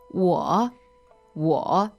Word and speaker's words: 我: So the first word is 我 W-O, third tone.